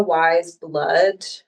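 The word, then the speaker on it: Weyes Blood: I mean, I've been listening to, do you know Wise Blood? No, I don't think so. It's spelled Weyes and then Okay. Blood.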